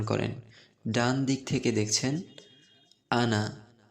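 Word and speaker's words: أنا: ডান দিক থেকে দেখছেন আনা, কি লেখা আছে? আমি। আনা অর্থ আমি। এখানে নুনের পরে আলিফ লেখা আছে, আনা। কি লেখা আছে? আনা। কিন্তু এই আলিফের টানের উচ্চারণটি হবে না, উচ্চারণ আমার মতো করেই করেন।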